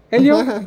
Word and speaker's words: Helio: como Elio c Elio mi nombre se escribe con h okay De todas maneras